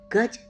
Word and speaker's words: गज: पद्धति के बारे में जानेंगे यह रे पद्धति गज रे पद्धति जिसे कई जगह में गाजा री